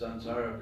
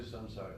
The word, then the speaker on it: Samsara: Much as he said it right, everybody always says Sansara prayers. But Sansara means this blazing fire of material existence. So we don't want to pray to Samsara. This is not Sansara prayers.